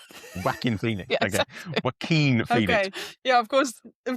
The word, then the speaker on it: Joaquin: Who's No, it's Joaquin Phoenix Is that how you say it? Mm. King Phoenix.